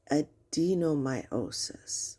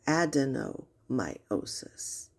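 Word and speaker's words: adenomyosis: And also it's adenomiiosis or adenomiosis. Adeno refers to a gland. Myo is muscle and the ending of s i s just means condition.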